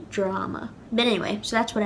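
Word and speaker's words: dráma: Now, it has an A fada, and usually in Irish, in Ulster Irish, that would be pronounced anywhere from a to a, depending on the speaker. And in Connacht and Munster, it'd be pronounced aw. So in Connacht and Munster, this would be pronounced drama. But unlike other words, in Ulster, I've personally never heard this pronounced drama. Maybe some people do, but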